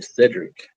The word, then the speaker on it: Lecedric: Well, my name is pronounced Cedric.